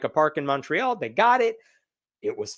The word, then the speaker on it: Montreal: in the city of Montreal. Uh I was told it was pronounced Montreal. I don't know anymore, but the American pronunciation is Montreal.